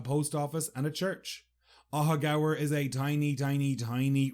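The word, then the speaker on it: Aughagower: facts about a hoger and first how you spell it a u g h a g o w e r aaga just so you can see why I was in such disbelief aaga is a tiny village located in the west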